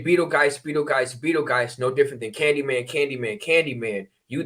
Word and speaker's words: Betelgeuse: Orion is Beta. So it's pronounced Betel. Betelgeuse.